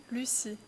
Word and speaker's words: Lucie: We pronounce this Lucie? Lucie, yes.